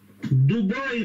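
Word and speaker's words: Дубай: Дубаи, правильно говорить. Дубаи, давай, правильно.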